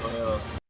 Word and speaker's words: Loyola: Yes, Loyola.